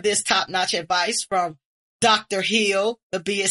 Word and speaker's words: Hill: I said Dr. Hill, and the B is silent.